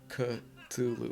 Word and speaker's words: Cthulhu: Um, isn't it pronounced Kalulu? H.P. Lovecraft, David Lynch. It's supposed to be, but it wound up being Cthulhu over the years, right?